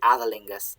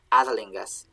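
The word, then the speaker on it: æþelingas: we've had the word adelingus sorry i keep mispronouncing this because i see a thorn there but it's the sound adalingus avaling is a word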